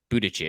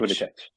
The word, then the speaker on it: Buttigieg: Yeah, Buttigieg. Buttigieg. Yeah. Thanks, I appreciate you Mhm. on the pronunciation fix there.